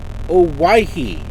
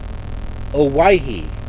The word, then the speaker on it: Owyhee: It's pronounced Owyhee. Owyhee. Emphasis is placed on the second syllable Y. Okay, Owyhee. Kind of like Hawaii.